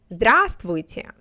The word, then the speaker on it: Здравствуйте: Здравствуйте, меня зовут.